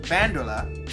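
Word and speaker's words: バンドーラ: Her Super Sentai equivalent Bandra, or her Japanese pronunciation Bandola, not only killed the astronauts that released her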